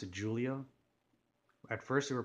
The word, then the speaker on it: Giulia: Julia like you know making the G more into like a J but definitely you know